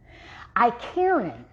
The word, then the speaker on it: Icariin: The active ingredient that gives it its aphrodisiac properties is something, now don't get me to mispronouncing, baby child. Icariin.